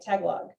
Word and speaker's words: Tagalog: also have um uh i hope i'm saying it right tag log so like uh like filipino students tagalog say it again tagalo tagalo thank you well that's there you